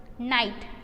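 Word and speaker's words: night: नाइट, नाइट में silent word क्या है? G।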